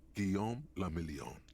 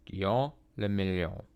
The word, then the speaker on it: Guillaume le Million: Guillaume le Million. Guillaume le Million. If it doesn't rhyme, you're not pronouncing it right.